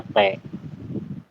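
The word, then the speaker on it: ㅂ: ini saya coba Mas bak Halo Mas bak Mas Bakti Halo iya halo kalau B penjelasannya Gimana mas Bakti Kalau di awal bacanya b kalau di akhir bacanya P Oke Betul Terima kasih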